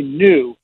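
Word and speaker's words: Nu: I went and looked, and it was going to be new. Not like NEW, but pronounced new, and I'm like, that's going to be confusing.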